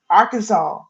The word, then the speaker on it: Arkansas: mean when when they say Pagan no they Arkansas our a-r-k a n s a s a